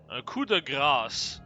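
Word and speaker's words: coup de grâce: Cuda grass is how that's pronounced in French.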